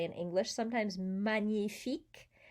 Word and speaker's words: magnifique: say in english sometimes magnifique the gn is nia it's not a g or an and it's